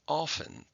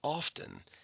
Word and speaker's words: often: Now, the first time I said often, the second time I said often, and that's because there are two pronunciations. Okay? OFTEN. It looks like of 10, but it's pronounced often or often.